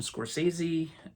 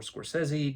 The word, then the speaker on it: Scorsese: at number 14 is Goodfellas directed by Martin Scorsese um or Scorsese depending on how you pronounce it of course starring Ray Liotta Robert